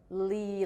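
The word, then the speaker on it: Leigh: It's spelled like Lee, like Vivian Lee, because his mom was obsessed with Vivian Lee and named him after Vivian Lee's last name.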